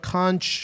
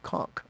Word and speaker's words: conch: have to tell you the pronunciation of this word is conchk. Sorry. The conchk. Don't worry, it looks like it should be con, but the English language is kind of freaking crazy.